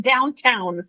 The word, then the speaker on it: Downton: When people said Downton Abbey, I'm like, why is everybody like saying Downton. that? Like, I thought it was like an English thing, like you know, saying it wrong. Yeah, but we enunciate, so it is downtown.